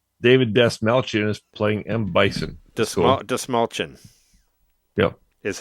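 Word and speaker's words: Dastmalchian: It's It's like It's like you're saying like the small shin the small chin but with a D.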